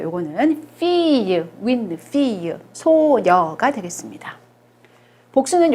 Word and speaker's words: fille: 요것은 요거 발음 배웠죠? 우리 요거 이유로 발음이 나는 철자예요. 요거는 fille, win, fille, 소녀가 되겠습니다.